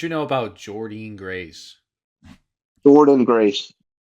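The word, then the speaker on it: Jordynne Grace: Jordan Grace. That's not how it's spelled. but That's that's how it's how it's pronounced.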